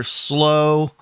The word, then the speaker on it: Slough: I think slooh uh or or slow uh depending on your dialect. I'm gonna say slooh.